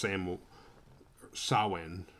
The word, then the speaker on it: Samhain: which i didn't mention with sam wayne or sawwin however you say that it's spelled samhain like danzig's old band you know after the misfits before dancing samhain was sandwiched in between those but it's pronounced samo sawin which loomis was an expert in but couldn't